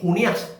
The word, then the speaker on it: Junías: Por eso han afirmado que Junías, con acento en la A, era una forma abreviada de Junianos.